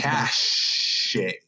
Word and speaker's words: cache: Warrant such bold Proclamation cash cache by mashe if you don't know how to pronounce it oh dang oh that's